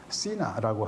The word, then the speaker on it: Sina: 저쪽 끝에 올라가면은 시나라고 하는 곳이 있다. SINA인데 시나. 그럼 차이나와 가까운 발음인 것을 아실 겁니다.